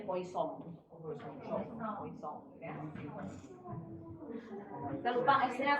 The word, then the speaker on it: Poisson: Bacanya Poisson.